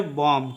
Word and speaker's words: bomb: ठीक है, तो देखिए BOMB का उच्चारण हम लोग बॉम्ब नहीं करेंगे, BOMB का उच्चारण करेंगे बॉम्ब।